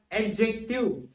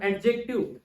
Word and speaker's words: adjective: in the word, and many times I used to pronounce this as adjective, and many of you may pronounce this as adjective, but pronouncing adjective, it is wrong grammatically, but